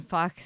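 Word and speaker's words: Fach: it's called the yes that's the word f-a-c-h system Fox system and um you can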